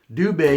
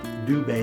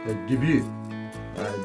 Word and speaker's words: Dubé: name is obvious, but there's basically two pronunciations. Dubé is what almost everybody goes by, D-U-B-U-E. It's the English version of the name. It's D-O, and then Bay, B-A-Y, so Dubé, that's how it's pronounced. But there's also a French version. There are some members of the family who use debut, D-U-B-Y-O-U, debut, if you were to pronounce it.